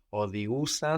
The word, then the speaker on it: οδηγούσα: But then for our open past, with our verbs with our accent on the end, like οδηγώ, we have ous. Ous. Οδηγούσα.